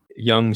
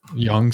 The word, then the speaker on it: Yonge: them correctly now yeah Yonge Street Yonge Street that's yeah y ou n je or GE yeah just just Yonge Street yeah like like young person yeah what's the significance